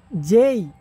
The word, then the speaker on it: J: এই আমরা বলি এ, বাট ইটস এ A B C D E F G H I J K, দেখো জেই, জে না, জেই, জেই K L M N O P না, ফি, L M N O P Q P Q।